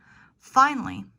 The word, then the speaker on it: finally: a again finally finally finally has three syllables but if you want to work on that American accent omit the a finally finally chocolate chocolate instead